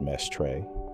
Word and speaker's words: Mestre: A separate set of studies led by Humberto Mestre, pronounced Mestre, at Rochester, has shown that the driving force of the whole system is the pulsation of the cerebral arteries.